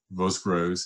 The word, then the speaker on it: Vosgros: And like everybody else in this area, both those domains have Premier Crus and Vaucoupin and either Vosgros, it's called, it's unusual to pronounce that first S, but they do, or Vaugirard, which is a subsection of it.